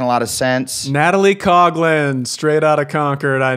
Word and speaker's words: Coughlin: It's Coughlin. I would say that as really? Coughlin. I would say that as Coughlin. But it's, hey. Because it's a Coughlin. Rowdy Gaines pronounces it Coughlin.